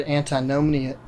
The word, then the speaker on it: antinomianism: So the other side to that, you had mentioned a word, antinomianism. How do you pronounce it?